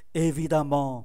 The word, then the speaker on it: évidemment: Évidemment, đọc phát âm là A, xuất phát từ tính từ évident.